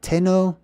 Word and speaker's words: Tenochtitlan: The T is a prefix, and then it's Enoch. You see that? Enoch, Titlan, or the land of the Tet that Enoch belongs to, right?